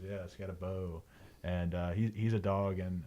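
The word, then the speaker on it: Skattebo: Skidaboo. Garrett told me how to say it. I think it's yesterday. Scatabo. Scatabo, that's what it is. Yeah, Scatabo.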